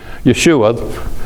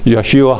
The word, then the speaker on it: Yeshua: Jerusalem as far as Jews believing in Yeshua that's the way they prefer to pronounce Jesus Yeshua Yeshua HaMashiach Jesus the Messiah and he made the